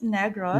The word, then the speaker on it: Negros: island you are from is actually, and it's pronounced as Negros, Neg- not the, not the other not, not, pronunciation.